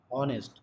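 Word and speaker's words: honest: করতাম তাহলে কি বলতাম অনেস্ট বলতাম হয় কিনা অনেস্ট কিন্তু ওটা হনেস্ট তো না ওটার উচ্চারণটা কি বললাম অনেস্ট যেমন ওযে এম এম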